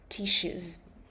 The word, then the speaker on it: tissues: So, tissues are pumpers and these are tissues. Tissues. Yes. Good. Good. These are tissues. Make sure to pronounce it correctly. This is double s. We say it like sh tissues.